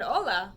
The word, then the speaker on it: hola: But even though she said hola with a silent H, they waved her off.